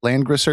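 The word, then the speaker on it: Langrisser: then we have a land grosser am I saying that right yeah that's correct okay because I always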